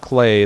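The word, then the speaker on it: Klei: from the developers, Clay. They do a stream once a week that's called Rhymes with Play.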